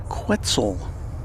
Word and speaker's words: Quetzal: This one has Verde, the resplendent Quetzal. Rhymes with pretzel, I guess, on its tail.